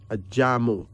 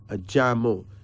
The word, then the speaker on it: Ajamu: Ajamu. Ajamu. A-J-A-M-U.